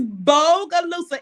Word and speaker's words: Bogalusa: your hometown booga boogaloosa say it again it's bogalusa it's b a is b o g a